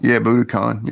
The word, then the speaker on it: Budokan: All right, so this next one, we're going to go to Japan, Tokyo, Japan, to Budokan. Is that how you say it? Budokan? Budokan, yeah.